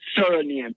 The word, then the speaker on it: surname: But when you look at the word surname, s u r n a m e, but the pronunciation is s i r sir because you have the name of the sir of the plantation that you were on.